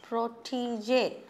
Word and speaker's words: protégé: And look at this grave accent. Accent grave they say in French. You have a small little dash on top of the E, and that gives a different pronunciation. Protégé we say.